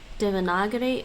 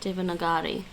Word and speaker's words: Devanagari: how to pronounce divana you can say devanagari or devanagari apparently uh what's this one